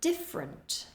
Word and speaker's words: different: interesting next we have different different we lose a syllable in the middle there we don't say different we reduce it different different the next